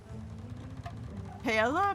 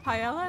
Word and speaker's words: paella: What about some Pella. Paella.